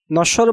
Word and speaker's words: নশ্বর: বফলা উচ্চারণের ২ নং নিয়মে বলা হচ্ছে শব্দের মধ্যে বা শেষে বফলাযুক্ত বর্ণটির উচ্চারণ দিতে হবে, অর্থাৎ যে বর্ণের সাথে বফলা থাকবে ওই বর্ণটি ২ বার উচ্চারণ করা লাগবে। নশ্বর বানানে তালব্যয়ের সাথে বফলা থাকায় তালব্য ২ বার উচ্চারণ হয়েছে।